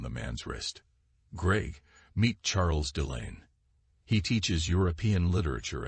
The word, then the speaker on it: Charles: dear husband she replied Charles pronounced the French way as Charles struck me as your